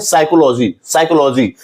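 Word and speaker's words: psychology: Word है, तो यहां इसे हम लोग पी को पढ़ते ही नहीं है, इसे हम पढ़ते हैं साइकोलॉजी मीन्स पी साइलेंट होता है।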